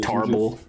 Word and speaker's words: Tarble: Tarble. Tarble, yeah. Tarble, pronounced in Japanese like Tobble.